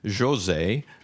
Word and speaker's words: José: It's spelled Jose, but it's pronounced José Mauricio Nunes Garcia, not Thea.